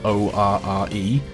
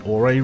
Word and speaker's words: Orre: we are in the Orre region. It's spelled O-R-R-E. A lot of people pronounce it Orre, but personally I'm under the assumption that it should be called the Orre region.